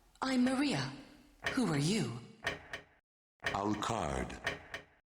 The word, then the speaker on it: Alucard: They don't pronounce it Alucard, they pronounce it Alucard, as if he's Francais. Hon, hon, hon, des croissants. They put the emphasis upon the second syllable. Or third, rather.